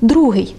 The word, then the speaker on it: другий: А ще у нас є порядковий числівник «другий», який не змінює наголосу у жодній відмінковій формі.